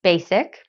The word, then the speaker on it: Basique: Mary Lou Ryan founded basique pronounced basic okay in 2006 to